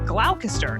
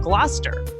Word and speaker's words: Gloucester: Like originally, I said glalcaster instead of Gloucester.